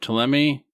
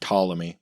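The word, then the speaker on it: Ptolemy: Uh, he did study classical geography, especially uh, TMI, and that's P T O L E M Y. Not 100% sure how it's pronounced, but probably a lot like pterodactyl. And he said, what's that? Tammy.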